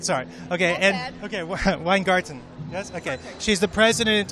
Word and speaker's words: Weingarten: conference in Washington DC I'm with Randy uh wein gter did I say it right sorry okay and okay weine garton yes okay she's the president of the American